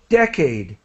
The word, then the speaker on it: decade: Media and decade. So the Decade. first syllable has the accent.